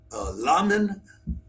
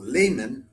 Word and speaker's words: Lamin: to call him, then we have Lamin, or Lamin, but I would pronounce it Lamin, I think, Fofana.